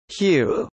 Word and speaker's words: HU: In Ekankar, one of the basic forms of prayer includes singing the word Hu, which is pronounced as Hu, a holy name of God.